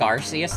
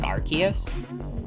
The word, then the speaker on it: Arceus: I think Arceus is better pronounced with a... sounds better pronounced with a hard C, like Arceus. I think I used to say, like, Arceus as a kid.